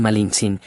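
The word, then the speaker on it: Malintzin: Bernal Díaz cuenta que los indígenas la llamaban malins un término de respeto que significa la de Malinali y los españoles, al no pronunciarlo bien la rebautizaron como malinche.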